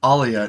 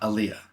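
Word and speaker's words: Alya: this entire time I I think it's Alia not Aliyah D I think because it's Russian pronunciation right oh it is and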